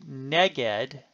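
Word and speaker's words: נֶגֶד: full of the Hebrew preposition neged note the stress on the first syllable is glossed as opposite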